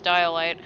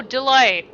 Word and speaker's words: Delight: The common mispronunciation is Dialight. Oh, so it's, Delight? Oh, Delight! Oh, I don't know why I keep saying Dialight.